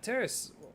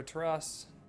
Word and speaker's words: Terce: for him um yeah terce why don't you uh or teras I I forgot your name terce yeah I've been saying it right just questioned myself there